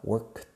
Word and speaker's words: worked: Una sola sílaba, difícil de pronunciar para vosotros, lo sé. Sonido de K, worked, y luego sonido de T juntos.